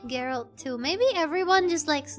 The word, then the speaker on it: Geralt: W men like Yennefer from Witcher and women like Women like Gerald. Women like Geralt. Geralt. Geralt. Why did I say his name? Geralt. Why did I say his name the wrong way? It's Geralt.